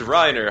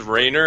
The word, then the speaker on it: Reiner: you so wish yeah my name is Ryder hello I didn't want to say it wrong it's okay p people tend to say Raynor and I'm just like no the cringe and for most of